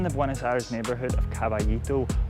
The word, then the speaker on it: Caballito: So I'm in the Buenos Aires neighborhood of Caballito, or Caballito if I can pronounce it like a local.